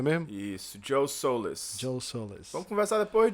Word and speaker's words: Soliz: É isso aqui, é assim que pronuncia mesmo? Isso, Joe Solis.